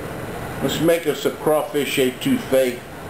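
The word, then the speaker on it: étouffée: It's pronounced etouffee.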